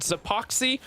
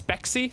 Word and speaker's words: Zpxy: it out last time it is not epoxy who is zyphus duo it's speccy that's how it's pronounced so we apologize going